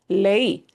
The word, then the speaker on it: leí: So lei, lei. And I've got both of those vowels. I punch the E a little bit harder. So it does need an accent mark. We do need to emphasize the E sound a little bit more.